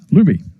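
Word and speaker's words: Luebbe: the line will be Luby in the air you get the pronunciation guide from Sheldon the gang and it's l u then be e but it's actually spelled l u e BB be can I get another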